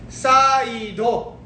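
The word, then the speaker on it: サイド: Then how do you say side? Is saido.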